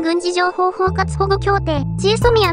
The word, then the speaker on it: GSOMIA: ますまずはこちら g s o mi えっぺなんて発音すればいいのか毎回迷うんジーソミアです次はこちらこれ